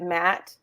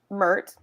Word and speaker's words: Mert: matte in Istanbul so I kept calling you Matt but his actual name is the way she pronounces it yeah like even though my notes had to scratch it out because she says math okay mert I have so many